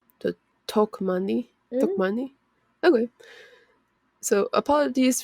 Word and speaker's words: Tokmanni: So you overpronunciate the first part, so it's talk. Was it Tokmanni? Yeah, Tokmanni? I think so. Okay. But you like overpronunciate the first like two letters. So Tokmanni?